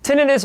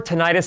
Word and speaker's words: tinnitus: Tinnitus or tinnitus, however you want to pronounce it, is fine with me, is otherwise known as